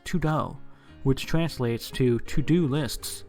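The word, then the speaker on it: 土豆: means to-do list because in Chinese potato is pronunciated as tudo which translates to to-do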